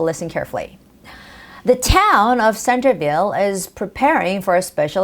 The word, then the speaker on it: Centerville: this it's more like the stress goes on the first syllable Center Centerville or you could say Centreville with a soft T sound now when you are